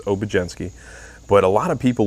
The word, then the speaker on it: Obiedzenski: be a surprise but the d and z is pronounced as the j so it's obgenski but a lot of